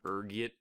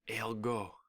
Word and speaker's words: ergot: There's a few different ways you can pronounce it depending on your social standing, ranging from ergit to elgo. Being the disheveled pauper I am, I prefer ergot, rolls off the tongue, you know.